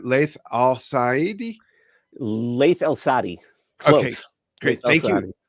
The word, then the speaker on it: Laith Al-Saadi: I hope I'm pronouncing his name right. Laith Al-Saadi. Laith Al-Saadi.